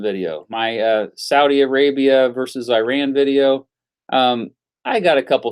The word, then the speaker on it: Iran: it from the Midwest nobody says Iran other than people that live around here in Kansas I don't know it's Iran mr.